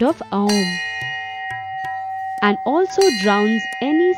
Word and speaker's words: Om: Om is not pronounced as OM but as AUM, Aum.